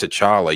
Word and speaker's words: T'Challa: a song Thank God to Chara rhymes with dollar gotta put phone every